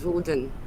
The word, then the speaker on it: Odin: of this tree um how do we say Odin is Walden wooden it's wooden that's how you say it this is Odin's name